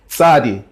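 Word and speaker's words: צדי: the dot is shadi shadi is another letter that we don't have in English is basically a T TS or sometimes it's written T Z and it's kind of like if you're saying pizza that sound there cool okay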